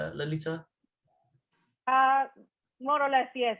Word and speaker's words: Lalita: Do I pronounce it correctly, Lalita? Uh, More or less, yes, Lalita Oh.